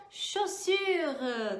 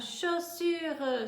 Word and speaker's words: chaussure: Ah, anota aí, olha bem a pronúncia, chaussure, très bien, chaussure, chaussure, très bien.